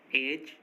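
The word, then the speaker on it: edge: अगर किसी वर्ड में जी से पहले डी आ रहा है तो डी साइलेंट होगा। जैसे ब्रिज, एज, हेज, वेज, इन सभी वर्ड्स में देखिए जी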